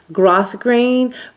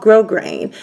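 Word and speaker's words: grosgrain: used to call it grass green but actually the S is silent so in case you guys didn't know that that's just a tidbit it's called grow grain so this is a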